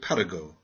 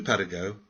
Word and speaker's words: Paragot: It is the story of Paragot, the beloved vagabond. Please pronounce his name French fashion.